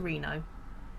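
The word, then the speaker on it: Reeno: a reason my name I spelt my name phonetically because I was gonna spell it I thought it looks too much like rhino so I put two E's so you can read it as RINO and it makes sense okay so how busy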